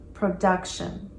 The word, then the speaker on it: production: Notice the emphasis on that second syllable, production.